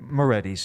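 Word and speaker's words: Morettis: We're talking about the Murphys and the Morietis. Am I saying it right? Moretti's, yeah.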